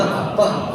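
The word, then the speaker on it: אבא: 너희는 다시 무서워하는 종의 영을 받지 아니하고 양자의 영을 받았으므로 우리가 아빠, 아버지라고 부르짖느니라. 아멘. 아빠, 아버지 이렇게 되어 있는데 원래 원어의 발음은 아바입니다. 그러니까 아바, 아버지 이렇게 되어 있는데 좀 아빠, 아버지 우리 말이랑 좀 비슷하죠.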